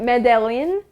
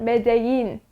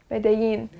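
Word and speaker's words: Medellín: So this word, it looks like Medellin, but this is actually a Spanish word, so you pronounce it Medellin. Medellin.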